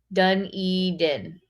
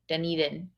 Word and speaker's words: Dunedin: that's so cool oh am i saying it wrong done eden dunedin there you go whatever uh yeah does